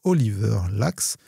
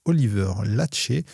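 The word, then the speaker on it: Oliver Laxe: Une mention spéciale du jury ayant été décerné au film Sirat de Oliver Lax. Je crois d'ailleurs que cela se prononce Oliver Lachet.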